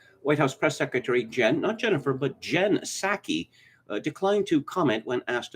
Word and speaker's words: Psaki: White House Press Secretary Jen Psaki, declined to comment when asked about Musk's deal. Yes, it's spelled P-S-A-K-I, but the P is silent, like the P in toilet.